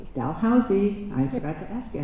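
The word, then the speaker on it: Dalhousie: Uh Kira has a BA in history and costume studies from uh the Dal Dalhousy Dalhousy. I forgot to ask you how to pronounce that.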